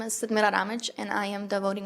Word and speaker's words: Sadmira Ramic: My name is Sidmira Ramij, and I am the voting rights attorney at the ACLU of Nevada.